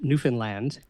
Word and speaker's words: Newfoundland: So a very good friend of mine, Anne Fizard, she's from Newfoundland, and I was told that's the proper way to pronounce it, by the way.